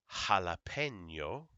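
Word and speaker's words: jalapeño: would say okay now the J uh makes a like an h a j is kind of like the Spanish version of Rh so this is pronounced Julio jalapeno hota Julio jalapeno hota so there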